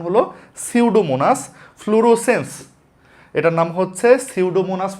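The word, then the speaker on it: Pseudomonas: এটার উচ্চারণ হল সিউডোমোনাস।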